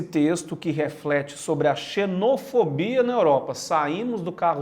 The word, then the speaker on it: xenofobia: grande, reflexione sobre a xenofobia na Europa. Toda vez que a palavra termina com fobia, é sempre o fo, a sílaba tônica. Xenofobia, aracnofobia, claustrofobia, a homofobia também.